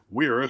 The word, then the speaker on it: Wera: Wera, spelled with a W, saying it with a W.